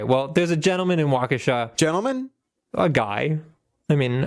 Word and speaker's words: Waukesha: No, it's Waukesha. Okay, well, there's a gentleman in Waukesha.